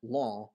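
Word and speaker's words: lámha: which is a day so law is a day but law with the nasal vowel is hands um jesus let him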